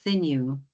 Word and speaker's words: Senu: I think you may have pronounced my first name incorrectly. It's Senu. Senu.